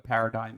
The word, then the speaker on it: paradigm: I'm still not super clear on what a paradigm is. I know how to spell it. There's a silent G in it.